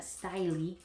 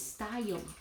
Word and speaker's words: style: that word style right it's not styly sty it's style ale so that's a